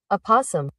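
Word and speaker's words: opossum: I asked, "How do you how do you pronounce it?" Apossum.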